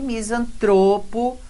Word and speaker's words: misantropo: E misantropo, paroxítona terminada em O.